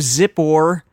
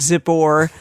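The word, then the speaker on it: Zippor: a-lak-a-lak-a-lak-a-lak the son of zip or like zipper but zip or saw all that Israel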